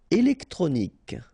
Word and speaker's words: électronique: Électronique. Okay, so, k at the end. Remember, Q-U-E at the end. K. Électronique. Électronique.